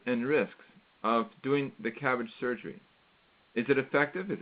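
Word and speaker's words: CABG: coronary artery bypass graft it's pronounced cabbage that's the surgery or cabbage the vegetable we get to look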